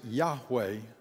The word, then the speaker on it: Yahweh: word that is almost untranslatable he says we pronounce it yahweh god says in giving moses that hebrew verb